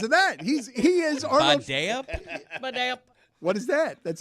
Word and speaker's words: Badayup: The only thing that matters is that the phonetic emphasis is on the middle syllable. Ba-day-up. Badea. But there is a P. Yes, that's correct. Yeah. At the end. Ba-day-up.